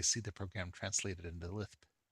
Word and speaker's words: Lisp: It's kind of fun to basically see the program translated into Lisp. By the way, that's the canonical way to pronounce Lisp.